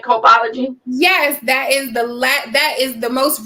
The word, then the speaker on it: Copology: Did I pronounce that right? Copology?